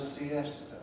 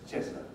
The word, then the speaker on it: siesta: going to have a siesta it's got to have three syllables because the head is strong if i speak in